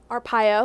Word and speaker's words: Arpaio: had promised the pardon Sheriff Joe Arpaio my pronouncing that right Arpaio a pile who is the poster boy for